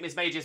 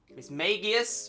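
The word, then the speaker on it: Mismagius: makes sense um the the one pronunciation I don't think will ever make sense to me is Miss magius Miss magius with a hard G there's not a lot of places where you'll find that those letters making a hard G so it doesn't make sense to me Miss magius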